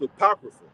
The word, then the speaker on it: apocrypha: That's an A supposed to be there, right? So that's pronounced apocrypha.